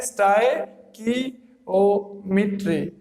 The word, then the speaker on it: stoichiometry: स्टाइकियोमेट्री क्या है, इसकी जो इट साउंड्स स्टाइकियोमेट्री, यानी कि इसकी जो करेक्ट प्रोनाउंसिएशन है वो क्या है, स्टाइकियोमेट्री।